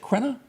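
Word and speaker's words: Richard Crenna: Do you pronounce it Crenna?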